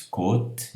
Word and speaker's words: côte: Vejam que de propósito eu coloquei got versus côte, então aqui é o circunflexo que faz fechar o O.